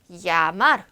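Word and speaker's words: llamar: 이 에이지에라고 하는 애를 Y 발음으로 배울 건데요. 야마르, Y라고 생각하시고 읽으시면 돼요.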